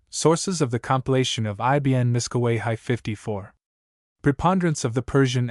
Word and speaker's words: Miskawayh: 10th and 11th centuries, Ibn Miskawayhi, whose name is pronounced in Persian Ibn Mushkiya.